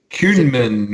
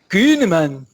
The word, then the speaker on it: Koehnemann: Koehnemann. Koehnemann, yeah, like two syllables in it, yeah.